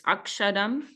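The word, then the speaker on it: अक्षरम्: the third word this akshadam and also the same word is there in the first verse second line um which means imperishable referring to Brahman so so Bengali style pronunciation drops that s so as you hear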